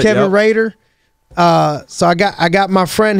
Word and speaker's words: Rader: Did I pronounce that the right way? That's right. Kevin Rader.